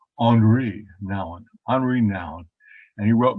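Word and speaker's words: Henri Nouwen: this guy the name henry noun actually canadian and little canadian french so you would pronounce it andre now and unrenowned and he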